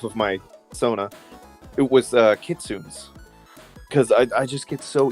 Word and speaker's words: kitsune: It's like, well, then that's not a kitsune. Kitsune. I'm just used to pronouncing the E at the end, I guess.